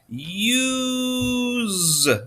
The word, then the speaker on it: use: And then we have a silent E at the end. That silent E is going to say, hey, you can say your name. Bye-bye. Use.